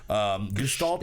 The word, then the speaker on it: Gestalt: philadelphia-based band known as Gestalt Gestalt is the way that you're supposed to pronounce it but I'm sure they're